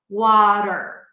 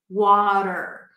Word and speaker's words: water: Okay, so this is easy because first, the word water has a T, but it's a flat T. Wa-da-da-da. So it sounds like a very light D sound or like a very short R sound, if you have that in your language.